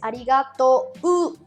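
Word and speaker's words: ありがとう: después de la o en realidad es arigato pero esto en japonés va a pronunciarse como una muy larga esto es muy importante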